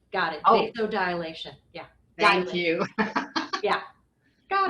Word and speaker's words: vasodilation: Do I pronounce that right? I hope so. What was that last word? We call it vasolidation. So, vasodilation. Got it. Oh, vasodilation.